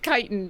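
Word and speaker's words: chitin: it is it no is it chitten chitt I'm sorry kitan is that what it is I have no idea how to say these names like I have read it many times Tanya's got it it's it's it's kiten it's a kit a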